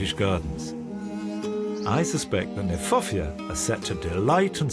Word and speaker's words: Kniphofia: I like the fact that Kniphofia, which is an awkward word, not an easy word to say, in fact is mispronounced. We should pronounce it Kniphofia, because it was named by Johann Hieronymus Knipp.